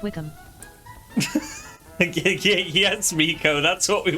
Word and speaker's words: Wycombe: It's not Wycombe! We are not questioning combs. Just wicks, apparently. Actually, it's pronounced Wickham.